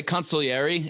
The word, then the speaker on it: consigliere: am I pronouncing cons I've heard it pronounced that way consiliary is how they do it in in The Godfather when they talk about